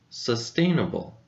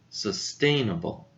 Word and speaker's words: sustainable: the word sustainable sustainable how many syllables do you think this word has if you said four you're correct sir Stane bull sustainable know where do you think the stress goes in this work the stress goes over the second syllable stained so it should be a little bit louder than the rest of them sustainable sustainable now let's